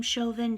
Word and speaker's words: Chauvin: construed as Derek Chauvin, I believe he pronounces his name Chauvin, Derek Chauvin, I'm not